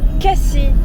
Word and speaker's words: Cassis: Cassis se prononce Cassis, sans faire entendre le S final, comme pour rimer avec Asti.